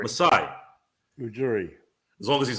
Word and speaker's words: Masai Ujiri: I can never pronounce his name. Ujiri? Oh, Masai Ujiri. Masai Ujiri.